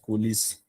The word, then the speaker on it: coalesce: Coalesce, how is it pronounced? Coalesce.